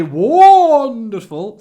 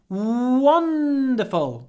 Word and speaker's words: wonderful: say it's really wonderful don't say wonderful say wonderful lots of w and lots of n a wonderful day it